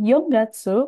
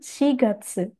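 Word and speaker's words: 四月: Hati-hati, bukan Yongatsu, melainkan Shigatsu.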